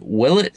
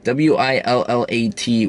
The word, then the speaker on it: Willat: history american history for that matter it's called will it studios w-i-l-l-a-t will at will it i'm just going to